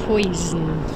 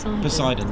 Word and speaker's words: Poseidon: I think it's like why did I go to pronounce it like poison pois it's it's it's close yes so Poseidon yeah or BOS in